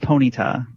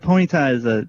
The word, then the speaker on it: Ponyta: Well, I believe it's pronounced Ponyta, if it's Ponyta, but the dog.